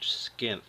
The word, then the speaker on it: Skinth: is a skin pouch that's spelled SK k i n th skinth I think it's a mix of skinny and sheath let's start off with